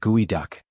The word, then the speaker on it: geoduck: It's the geoduck clam, pronounced gooey duck.